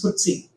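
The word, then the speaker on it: FTSE: you have footsy 100 ftsc is pronounced as footsy okay so this is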